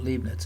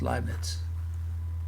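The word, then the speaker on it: Leibniz: inference rule is called liet now this is the correct German pronunciation it's not libnet it's lits so EI is always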